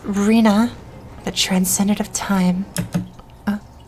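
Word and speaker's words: Rhinne: and listen for it it's pronounced reena the transcendent of time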